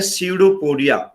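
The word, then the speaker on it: pseudopodia: ये finger like projection जो है ये कहलाता है सीडोपोडिया। पी इसमें साइलेंट होता है, ये पी नहीं है इसका, पी साइलेंट है, ठीक है।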